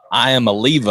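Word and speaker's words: Iamaleava: going forward Nico uh I am Oliva I think it's how you pronounce it I'm not uh yeah look you got you nailed it I think I just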